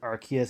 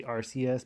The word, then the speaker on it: Arceus: And I believe how like, that's how you say it. I had to look it up, and I'm going off the official overview trailer that says Arceus. I know some people say Arceus, but Pokemon Legends Arceus.